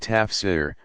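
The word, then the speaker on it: تفسير: of a specialty called tafsir pronounced ta f SE er explanation elaboration dozens of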